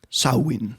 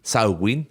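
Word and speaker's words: Samhain: una coincidencia entre la Cómo será la pronunciación irlandesa sawin sawin que se celebraba el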